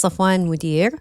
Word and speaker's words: Safwan Modir: San's last name it's safan modir like the boss modir okay yeah you know